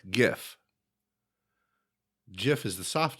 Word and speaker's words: GIF: no phonetic sense whatever there's no phonetic reason for it to be a hard G no it's not it's